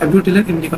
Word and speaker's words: Abutilon indicum: Rheumatic disorders में ये अतिबला का पौधा, जिसे हम अब्यूटिलिन इंडिकम भी कहते हैं, ABUTILN, अब्यूटिलिन इंडिकम, इसका प्रोनाउंसिएशन थोड़ा टिपिकल है।